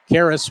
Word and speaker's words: Caris: Caris rhymes with Paris.